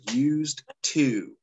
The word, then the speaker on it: used to: going to have to make sure you have that D on there, used to, even though we don't hear that when we pronounce it.